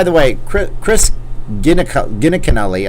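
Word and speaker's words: Giunchigliani: she defeated uh chris gillicutty ah i said it right boom by the way cr chris gina gina canelli i kept said it wrong again it's not gilla cutty she went on to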